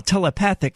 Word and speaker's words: telepathic: That's why I said telepathy a moment ago, because telepathy is pronounced one way, while telepathic is pronounced an entirely different way.